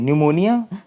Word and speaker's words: pneumonia: अगला क्वेश्चन देखते हैं, क्वेश्चन नंबर 10 क्वेश्चन नंबर 9 अगर हम देखें तो न्यूमोनिया की स्पेलिंग आपकी ये रहती है PNEUMONIA। न्यूमोनिया इसको पढ़ते हैं।